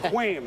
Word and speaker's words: Kwame: And by the way, it's spelled, you thought it was a relative of the Schwam, but it's Quam Harris.